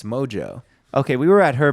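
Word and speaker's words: Mongeau: thought it was Mongu. Yeah. But it's Mojo.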